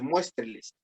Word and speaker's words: muéstreles: Pero si yo digo muéstreles, el pronombre enclítico le agrega una sílaba más a todo el verbo y entonces se convierte en esdrújula.